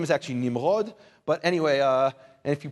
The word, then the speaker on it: Nimrod: Maybe because we pronounce, anyway, his name is actually Nimrod, but anyway, and if you pronounce it Nimrod, that's kind of a Nimrod thing to do, but Nimrod was called that because, why?